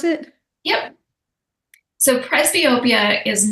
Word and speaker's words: presbyopia: Is that the right way to pronounce it? Yep. So presbyopia is not really, it doesn't mean nearsighted, doesn't mean farsighted.